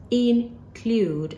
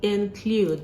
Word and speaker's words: include: the word include include this word is not pronounced include as we've been doing before it's actually include though the sound is it include um to